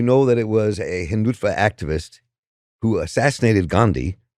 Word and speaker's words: Hindutva: The movement, and if I mispronounce this, please correct my pronunciation. Hindutva, is that right? Hindutva, Yep.